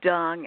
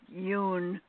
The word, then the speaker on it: Dung: You said Dung. Actually, it's pronounced Yoon as far as the Vietnamese pronunciation goes.